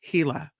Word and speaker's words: Gila: is the you say Gila monster yeah I've heard it pronounced with an H heila I say Gila monster